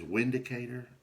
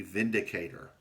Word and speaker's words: Vindicator: Uh, it says Windicator, but I understand that it's German made, and it's supposed to be pronounced with like a V, Vindicator.